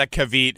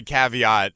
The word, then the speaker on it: caveat: I can't do this I've got a kavita and that's if you can't say caveat I'm gonna take all